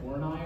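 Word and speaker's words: Horney: to pronounce her name I'm pretty sure it's not what it looks like is this person I'm pretty sure it's pronounced like horai or something not what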